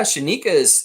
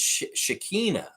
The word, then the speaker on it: Shekinah: actually have three ah shanika's uh shikina young I need to say her name right it's Shekinah it's not Shanika Shekinah young bad Young's wife